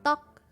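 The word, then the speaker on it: 떡: but the rice cake is spelled with a double D consonant so dock dock dock dock but it has the G or K sound at the end because it's rice cake and then tall so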